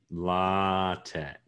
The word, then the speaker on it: LaTeX: x by the way it doesn't have an x in it it's a it's a chi and chi is not